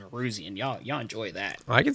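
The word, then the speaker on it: Nowroozian: Y'all need to spell my last name, Neruzian. Y'all enjoy that. I can spell that.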